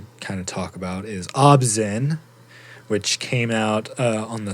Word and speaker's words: ObZen: Obzen.